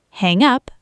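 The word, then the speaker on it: hang-up: Hang up, noun, hyphenated, stress on hang equals irrational dislike, mental block.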